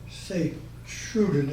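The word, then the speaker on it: Sint-Truiden: St. Troy, Okay, I reported this to the air base at St. Troy, St. Truden in the Flemish, okay, and that was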